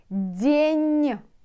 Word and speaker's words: день: So, каждый, каждый день. Н. Мягкий знак at the end. Remember, what does it mean? It does mean that N will be soft. So not день. День. День. Can you hear?